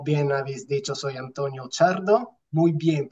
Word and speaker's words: Ciardo: la invitación como bien habéis dicho soy antonio chardo muy bien pronunciado Enhorabuena italiano orgulloso de ser italiano y